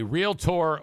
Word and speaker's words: realtor: real Tor orientation and told them how to pronounce real tor just two syllables uh yeah I for the longest time I thought I was realtor but it's you're right it's real tour ladies and gentlemen we